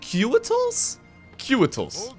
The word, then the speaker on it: Couatl: are all about so I think they're pronounced Cal cual I'm going to create